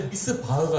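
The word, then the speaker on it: מִשְׂפָּח: 미슈파트를 기대하셨는데 발음상은 비슷한데 미스바흐가 열린 거예요.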